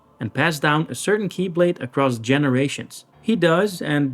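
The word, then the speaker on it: χ-blade: You see, it's like an X blade, but the X is pronounced key, so it becomes keyblade.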